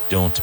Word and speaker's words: don't: Don't make me laugh. And pronounce the T and don't.